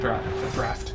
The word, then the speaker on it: draught: I remember something about the end draft. I think it's pronounced draft, even though it's spelled draught.